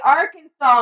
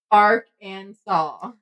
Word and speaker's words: Arkansas: so bad all right Arkansas must be pronounced Arc and saw they should totally arrest